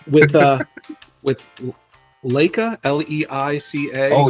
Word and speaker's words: Leica: Well, it's with uh with Leica, l e i c a. Oh, yeah, yeah. The Leica, I think is how you pronounce it.